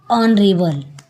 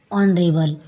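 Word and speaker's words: honorable: है एन एम ए एन ऑन रेबल H silent है इसलिए एन ऑन रेबल एन ऑफ पन ओ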